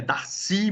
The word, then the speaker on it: Darcy: O cara é francês, então é Darcy mesmo, né? A sílaba forte é o Y aqui, tá?